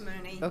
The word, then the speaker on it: Mooney: CU it looks like Mony but it does it looks like Mony but it's pronounced Mooney goes back thank You'